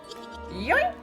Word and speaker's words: yoink: yoink no no no you are not saying it right it's more like yoink oh after a night